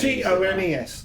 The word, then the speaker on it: Tomes: Well, it's Tomes. So it's T-O-M-E-S. That's Tomes. Tomes. It's Tomes. Maybe they should have put a Z on.